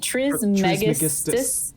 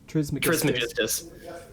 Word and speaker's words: Trismegistus: Trismegistus. Trismegistus.